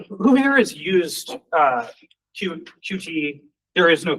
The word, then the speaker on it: Qt: Uh, who here has used uh QT? There is no correct way to say that, pronounce it. That's more than That's not true. The official pronunciation is cute.